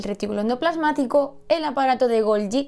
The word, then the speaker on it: Golgi: Dentro de los membranosos tenemos las mitocondrias, el retículo endoplasmático, el aparato de Golgi, que no Golgi, Golgi, porque era un señor italiano y se pronuncia así, y los lisosomas y las vesículas.